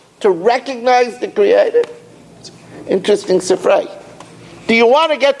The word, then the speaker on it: Sifrei: In Sifri, in Parshas Ekev, the Sifri is actually the correct pronunciation is Sifrei.